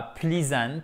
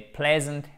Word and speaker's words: pleasant: To say nice et non pas pleasant, mais pleasant things about somebody.